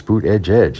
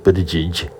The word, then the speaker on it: Buttigieg: And I think I heard Anderson Cooper pronouncing it that way, and I thought, well, Anderson, that's wrong. It's boot edge edge. It's not Buttigieg.